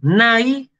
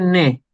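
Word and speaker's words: ναι: En griego moderno se dice igual, solamente que en vez de decir nai, el diptongo ai en griego moderno se pronuncia e. Así que en griego moderno se dice ne.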